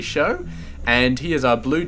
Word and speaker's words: SjoW: his name properly so the J is definitely silent I've been saying show for I don't know how many tournaments where he was in but it's definitely show and he is our